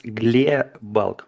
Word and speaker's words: Glebalk: It's Gle bulk, much softer than you usually say it.